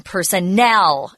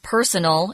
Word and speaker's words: personnel: And notice that the accent is on personnel. It's not personal, it's personnel.